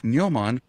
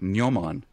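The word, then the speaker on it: gnomon: memory um absolutely fantastic neoman uh spelled with a g g-n-o-m-o-n which is the uh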